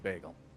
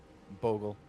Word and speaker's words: Bogul: Big fans of bagel. Bogul.